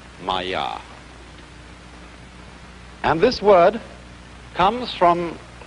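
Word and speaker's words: māyā: Pronounced Maya.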